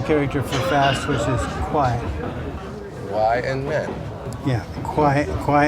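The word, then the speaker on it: 快: Kuai. Kuai.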